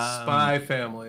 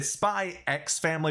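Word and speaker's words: Spy × Family: what you think um spy family okay there's a spy ex family but the x is silent it's a weird anime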